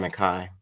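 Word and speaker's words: McKee: is this um geologist his name is John McKai and but his last name is spelled key it's one of those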